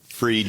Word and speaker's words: Fried: Uh but my last name is Freed Spelled Fried.